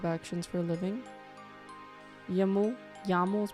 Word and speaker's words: YAML: Yaml is pronounced yaml with a short yal.